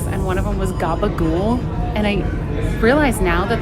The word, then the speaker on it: gabagool: one of them was Gabagool. And I realize now that that is a Sopranos reference, or like it's from the Sopranos. It's the way that you pronounced capicola.